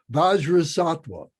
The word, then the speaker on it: Vajrasattva: Vajrasattva, Vajra, Vajra, Sat, S-A-T, Va. Vajra means the wisdom mind. Sat means a human being, means a being. And Va means a holy being. So it's Vajrasattva, it's Bodhisattva.